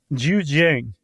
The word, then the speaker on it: Zhejiang: These caves in China, specifically the, how would you pronounce that, Josh? The province? Yeah. Zhejiang.